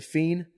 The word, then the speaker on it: fiend: You know, there's a fiend. A fiend? A crack fiend. A crack fiend. Yeah, fiend. Fiend. How you say F-E-E-N? No, it's F-I-E-N-D. Fiend. It's fiend. The D is silent.